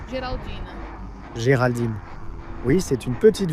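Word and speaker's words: Geraldine: Je pense que je le prononce correctement. Galadine. Géraldine.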